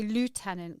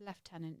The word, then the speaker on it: lieutenant: I always want to say lieutenant because it's spelled lieutenant. It's left tenant, isn't it?